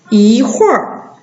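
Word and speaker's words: 一会儿: 一会儿，应该是 4 声啊，一会儿，读这个。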